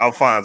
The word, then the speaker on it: Alphonse: man uh first of all give me the pronunciation of your first name alphonse alfonse okay okay i knew it was kind of